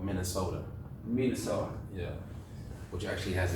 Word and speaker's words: Minnesota: Yeah, With a D, but it's spelled with a T.